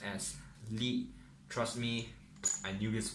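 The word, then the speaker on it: 力: So the front logo here is a Chinese word and it's pronounced as Li.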